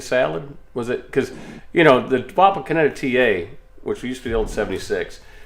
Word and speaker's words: Wapakoneta: Wapakoneta. That sounds like a disease. I got the Wapakoneta.